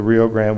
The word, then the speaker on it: Rio Grande: of the Rio Grand this river is the Rio Grand we call it the Rio Grand in Mexico they call it the Rio Bravo of course it it's spelled Rio Grande it's very Americanized the big band is